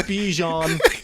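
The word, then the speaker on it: Bijan: I'm pronouncing his name wrong. Sorry. But you know what? I'm not saying his name right. It's Bejon.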